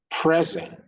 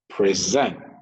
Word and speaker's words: present: verb for any homophones, the rule is when the stress is on the first syllable, that is a noun. When the stress is on the second syllable, that is a verb.